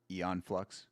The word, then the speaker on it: Aeon Flux: Aeon Flux Aeon Flux, how it's actually pronounced.